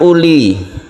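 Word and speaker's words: أولي: Jadi wawunya ini tidak digunakan, alias untuk tanda tulisan saja.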